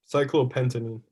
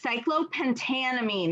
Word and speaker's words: cyclopentanamine: Cyclopentanine. Right. Cyclopentanamine. There's a lot more syllables. Okay. Cyclopentanamine.